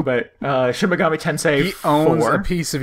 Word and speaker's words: Shin Megami Tensei: just following the outline um i've been playing shin megami tense see every time now thank you for the